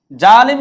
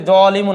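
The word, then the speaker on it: ظالمٌ: কি একটু জেনে আসি জালেম শব্দের অর্থ হচ্ছে জুলুমকারী বা অত্যাচারকারী জালিম শব্দের অর্থ হচ্ছে জালিমুন এটা আমরা কিন্তু জালেম হিসেবে বলি কিন্তু শব্দটার উচ্চারণ হচ্ছে জালিমুন আরবি থেকে এসেছে শব্দের অর্থ হচ্ছে অত্যাচারকারী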